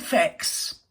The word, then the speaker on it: fecks: Yes, I said fecks. Rhymes with decks. Not plucks, that rhymes with that word.